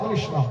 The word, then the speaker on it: কৃষ্ণ: আরে কৃষ্ণা হচ্ছে দ্রৌপদী, উচ্চারণ হবে কৃষ্ণ, মূর্ধন্য হবে।